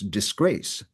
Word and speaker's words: disgrace: chosen when in disgrace we don't pronounce disgrace disgrace some might but it's the actual pronunciation is disgrace with the the emphasis on the second syllable okay so if we